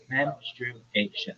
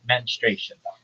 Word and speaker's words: menstruation: It's menation. It's four syllables, not menration. That's not right.